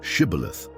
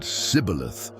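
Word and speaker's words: shibboleth: say the word shibilith. But the Ephraimites could not pronounce it correctly. They said cibilith.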